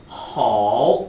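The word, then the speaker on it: 猴: 허. 발음 시작.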